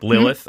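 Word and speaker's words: Lilath: It's spelt Lil-ath, A-T-H. Do you guys still say Lilith? Of course. Yes. Yep. It sounds like Lilith.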